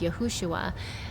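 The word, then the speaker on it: יהושע: In the original, it is Yeho-shua.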